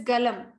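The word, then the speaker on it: गलम्: In the first, this one, no, first answer, whether it is Jalam or Galam. Yeah. Because Yeah. in Sanskrit, it is written as Galam. Yeah, Galam. It is Galam.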